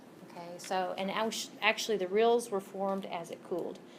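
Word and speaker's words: rille: It's pronounced rills.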